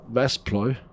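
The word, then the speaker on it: Waspaloy: We're currently making Vaspalloy, that's how you say it, and it's quite intense in terms of temperature.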